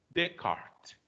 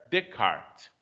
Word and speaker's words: Descartes: Mas você não vai pronunciar nem o S do des e nem o S do tes. Aí fica, então, apenas Descartes, certo? Descartes.